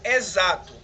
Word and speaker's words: exato: a palavra por exemplo exato exato é escrito com x porém esse x vai ter o som de z exato é escrito com